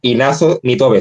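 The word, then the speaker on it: Inazo Nitobe: Eh, va a deleitarnos con Bushido de Ignazo Nitobe. Si lo he pronunciado mal, me corrige. Perfecto. Lo has pronunciado perfecto.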